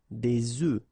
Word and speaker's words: œufs: And the tricky thing when we're talking about eggs is that if you listen carefully, the pronunciation is changing quite much, because for the singular form it's œuf, but then for the plural form here it's okay? Des œufs.